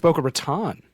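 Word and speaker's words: Boca Raton: to boka ratan Flora is it a boa Ron isn't that how you say it I thought it was boa Raton okay you can write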